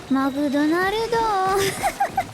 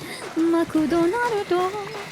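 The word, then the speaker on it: マクドナルド: Can you pronounce McDonald's in Japanese? It's McDonaldo. McDonaldo.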